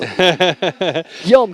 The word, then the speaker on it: Guillaume: And I tried everything to get those names right, but it's Guillaume Moore. Guillaume, not Guillaume.